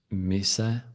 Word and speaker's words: mise: No, it's actually mise, because apparently Mise? the whole thing is called mise en place, so it's some French stuff.